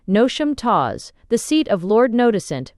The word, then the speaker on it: Knotacentinum Towers: and around Noticentinum Towers, pronounced as if written, Nosham Taws, the seat of Lord Notissant, pronounced as if written, Nosh.